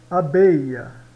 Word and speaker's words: abeille: Abeia. Abeia, tá? O E no final não se pronuncia quase, mas se pronuncia quase como um A aqui, o ILL.